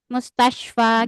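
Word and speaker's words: مستشفى: Nah, ini walaupun bentuknya kayak ya, tapi ini alif, Bun. Mustasyfa. Kita kan bacanya jadi panjang, Bun, ya.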